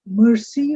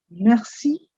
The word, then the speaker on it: merci: Please note it is once again the French R. Merci. Don't say merci or something. It's merci, which means a simple thank you.